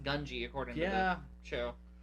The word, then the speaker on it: Gungi: Apparently it's pronounced Gungi according to Yeah.